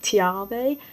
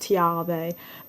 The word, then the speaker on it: Tiarve: eldest overall followed by tiave yes i checked and found out that the name was well pronounced tiarve but i didn't check until after i recorded so i pronounced it tiav the whole time for the remainder of